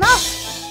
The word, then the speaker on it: œuf: It's because un egg is un œuf.